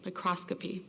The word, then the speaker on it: microscopy: you tell me how to say it again microscopy there you go did it there's a microscopy